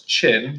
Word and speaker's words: Qin: Dynasty what does it does look like kin but its chin like your chin here you can see